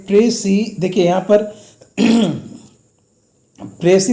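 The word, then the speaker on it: précis: एस इसमें silent रहेगा, S will be silent hair and the right pronunciation is प्रेसी।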